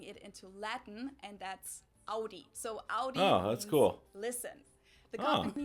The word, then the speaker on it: Audi: Germany versus USA yeah most America announces like I just said it Audi the German we say Audi Audi and there was actually